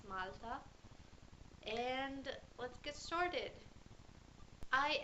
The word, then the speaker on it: Malta: Anyway, we the English pronunciation is Malta, but for us it's Malta.